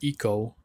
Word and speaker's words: Ico: We have Ico or Eco. Some people pronounce it Eco. I pronounce it Ico.